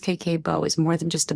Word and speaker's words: Kakeibo: KBO, pronounced KK Bo, is more than just a budgeting technique.